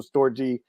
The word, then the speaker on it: storge: storge is a storge, depends on how you pronounce it, is the love for family.